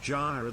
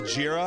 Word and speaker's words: Jira: for your official review the fact that you pronounced JRA that way concerns us that you have never actually logged into our Gyra instance no let's pronounce jira I just didn't want